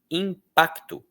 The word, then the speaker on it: impacto: Esse não é um padrão normal de palavra da língua portuguesa. Nós não gostamos de palavras que tenham esse tal de C mudo. Tanto é que a maioria das pessoas pronuncia como se esse C fosse um QUI.